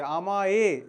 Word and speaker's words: আমায়: এখানে আছে কিন্তু আমায়, আছে অন্তস্থ, কিন্তু উচ্চারণটা কি হচ্ছে? আমায়, এ উচ্চারিত হচ্ছে।